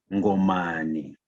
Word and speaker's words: Ngomane: O meu avô paterno, Ngomane, ou melhor pronunciado, Ngomane, é descendente do Ngomane,